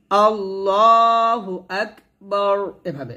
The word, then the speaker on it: আল্লাহু আকবার: তাহলে আমরা সুন্দর করে এই তাকবীরে তাহরিমাটা বলবো, আল্লাহু আকবার, এভাবে। এখানে আল্লাহ হবে, লটা মোটা হবে, আল্লাহু আক, এখানে হামস উচ্চারণ করতে হবে, আল্লাহু আকবার, এভাবে আমরা সুন্দর করে তাকবীরটা দেব।